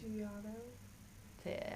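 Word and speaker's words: agitato: Say it with a soft G. Aggiato.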